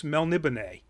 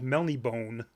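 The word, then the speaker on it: Melniboné: by the way it's melnibane it's spelled with an accent mark over the e which means you actually say it it can't be a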